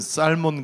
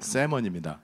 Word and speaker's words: salmon: 연어를 발음할 때는 살몬 그러면 그 진짜 그건 천하의 그 진짜 그 무식이 단독 드립을 하는 거예요. Если на английском, так сказать, salmon, так 저 это не L очень 저 발음은 묵음이에요. 발음 안 하는 거예요. Neправильно. 세먼입니다.